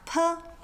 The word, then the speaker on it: ㄆ: Now, we have P. For this letter, think of a purring cat. Get rid of the ring cat and you have P.